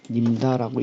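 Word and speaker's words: Nimda: 이것은 우리가 님다라고 읽습니다.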